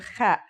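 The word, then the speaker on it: خاء: Kha is a sound some people make when they laugh. It's also similar to the sound people make when they snore.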